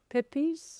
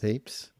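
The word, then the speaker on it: Pepys: it kind of I don't know how to pronounce his um name properly. The diary of Samuel. Is it Yes. Pepes. Peeps. I think it might be Peeps.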